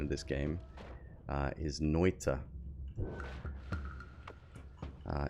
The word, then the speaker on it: Noita: this game uh is noita uh it's a finnish word which means witch uh and funnily enough